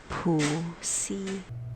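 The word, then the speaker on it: Puxi: that for you because how she says it sounds like a bad word to me, but it is spelled P-U-X-I.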